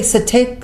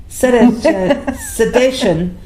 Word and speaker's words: cetacean: So do you say cetacean? Sedation? See, mammals. I can't pronounce anything. Cetacean. C-E-T-A. Cetacean. Listen to Nancy.